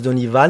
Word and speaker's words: Deni Van: Et vous s'appelez Denis Van. Alors expliquez-nous, je sais, moi je connais déjà la réponse, Ouais. pour les auditeurs, pourquoi Denis Van? Alors, on prononce Denis Van. Denis Van, Ouais.